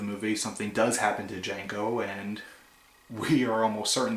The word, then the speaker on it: Django: And of course, Jamie Foxx's character says Django. And Francisco Negro asks him if he could spell it. So he spells out the name, says the D is silent, and Francisco Negro kind of does that look of, I know.